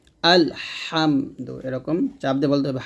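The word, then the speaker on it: الحمد: রাজিম বিসমিল্লাহির রাহমানির রাহিম আলহামদু এখানে আমরা যে ভুলটা করি আলহামদু বলি তো এই হার উচ্চারণটা আমরা সঠিক ভাবে উচ্চারণ করতে পারি না যে কোন কারণে আমাদের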